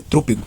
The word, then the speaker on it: trôpego: Então, a palavra aqui pronunciada da matéria correta é trúpego.